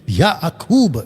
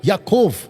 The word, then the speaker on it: याकूब: और वहां पे परमेश्वर चाहता था कि याकूब, उसका सही प्रोनाउंसिएशन है याकूब, याकूब, और जो इजरायली आज भी बोलते वो बुलाते याकोफ, याकोफ, ओके।